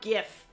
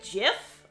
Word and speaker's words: GIF: order to spread misinformation is it jif or gif it's actually jiff all right i don't